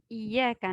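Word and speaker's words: إِيَّاكَ: Tandis que réciter sans la shadda sur le ya, le sens devient c'est la lumière du soleil que nous adorons.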